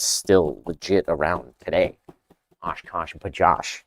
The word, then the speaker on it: OshKosh B'gosh: OshKosh B'gosh. Yes, we are saying it correctly.